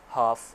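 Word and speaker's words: half: हाफ, L silent है।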